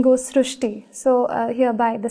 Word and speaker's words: Srushti: So in Marathi, the word Ri is pronounced as Ru. So that is why the pronunciation goes Srishti.